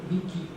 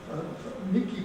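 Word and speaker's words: Miike: And the 3 plants that they did construct, one was at a place called Mike, it's spelled M-I-I-K-E, so I think Miki is the pronunciation of that.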